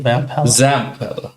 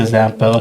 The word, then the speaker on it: Zampella: Sadly, why do you keep saying Vampella? Vampella. Just I butchered the poor guy's name. God rest. Vince Vampella sounds like a professional wrestling name. Vampella. Vamp. Yeah, Zam. Yeah, let's let's stick to Zampella because dude is not here, right?